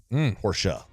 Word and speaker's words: Porsche: Kelly's wife a Porsche why Porsche as my neighbors told me to pronounce it properly porsa um Joe Kelly's wife